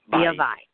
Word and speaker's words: Via Vai: Just so you folks know, the name of the restaurant is called Via how do you pronounce it? Via Vai.